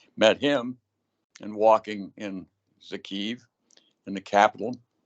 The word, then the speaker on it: Kyiv: him and walking in Kyiv, in the capital. It's pronounced Kyiv, I'm sorry, not Kyiv.